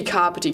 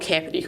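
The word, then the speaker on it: Kāpiti: stick with the crowd let's be carpety college not cappity college you can start off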